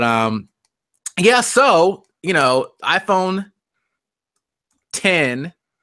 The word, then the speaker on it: iPhone X: yeah pretty cool so that aside onto the iPhone 10 now people stop saying iPhone X jovan it's the official called it's pronounced and as in 10 is called Weston